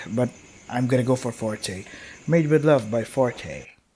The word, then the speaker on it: forte: a musical symbol what I'm gonna go for Forte yeah Forte I can't do the E with